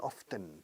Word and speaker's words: often: Alguna gente dice often, pronunciando la T.